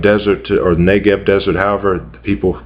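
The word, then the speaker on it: Negev: quadrant that would um U be called the nagev desert or neev desert however people pronounce it now uh it's a it's a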